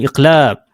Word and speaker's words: iqlab: belajar tentang hukum bacaan iqlab. Sebutan dia ialah iqlab. Alif, qaf, lam alif, ba. Alif, qaf, lam alif, ba. Sebutan ni iqlab. Ataupun dalam ejaan Rumi bahasa Melayu, I, qaf, la, L, A, B.